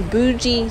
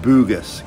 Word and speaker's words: Bugis: Now time for some shopping at the Bougie Street Markets. I think it's actually pronounced Bugis, Colette. But who really knows?